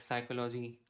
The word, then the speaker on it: psychology: Something should be, you know, silent, like psychology, PSY, right?